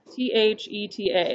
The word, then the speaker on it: theta: this and it is the greek letter theta t h e t a that's how you pronounce it theta um and it is the